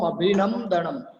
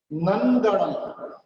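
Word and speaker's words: अभिनन्दनम्: लगभग आप ऐसे बोलते, संभवम अभिनम दणम। अभिनम दणम नहीं है, यहाँ पर नम का प्रोनाउंस नहीं करना है, यहाँ पर नन करना है। नम का प्रोनाउंस नहीं करना है, ये गलत है। नंदनम।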